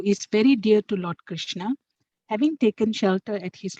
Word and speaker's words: Krishna: The words Hare pronounced Hare, Krishna pronounced Krishna, and Rama rhymes with Rama are Sanskrit words.